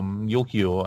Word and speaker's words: Yukio: more yet yoky Oh Yukio I believe is how they pronounce this character is all so the